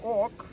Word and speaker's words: Ok: Now Og, we write in Icelandic, O and K. Og. In English you would pronounce it okay.